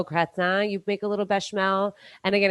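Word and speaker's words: béchamel: step and make a bashel a bashel sauce b e with an accent c h a m e l but in French just kind of like put them together Bell one two syllables um we're going to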